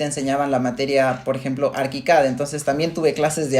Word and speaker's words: ArchiCAD: Ojo, que pronuncias ArchiCAD y no ArchiCAD como muchos lo conocemos. Sí, digo, en México entendemos que la gente por la CH lo dice como Archicad, pero Archicad. la Sí.